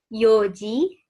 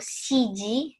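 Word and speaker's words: 四時: Jadi jam 4 itu bukan yongji atau shiji, gitu ya, bukan. Tapi yoji. Nggak ada N-nya ya, yoji.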